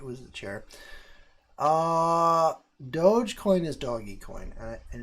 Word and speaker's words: Dogecoin: Dogecoin is doggy coin, and it drives me nuts that people call it Dogecoin, because why? There's no reason you would ever call it that. First of all, like, you would never pronounce it that way if it was just a word and it didn't have a dog as the word represents a dog, and it has the